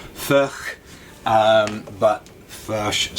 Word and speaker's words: Furch: of first guitars yes i know i'm pronouncing it fresh and i probably should be pronouncing it more ferch um but flash sounds